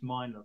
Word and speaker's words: Mina: It's a way of looking at it is that I was once told by Denise Miner, the Scottish crime author, or Mina, I think it's pronounced, that if I really